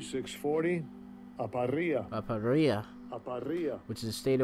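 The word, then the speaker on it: ἀπορία: Let's see what this pronounced correctly is. Strong's G 640, aparia.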